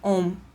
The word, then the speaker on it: ohm: Essa letra grega ômega, que se pronuncia ohm, em homenagem a um físico que estudou resistência elétrica, né?